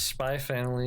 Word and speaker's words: Spy x Family: call it go it's spy family you don't pronounce the x the same way you